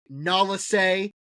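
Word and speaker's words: Nala Se: and even though the research was destroyed by Nalase, finally saying it right on the last episode, and Nalase blowing up the research, make sure it stayed Kaminoan.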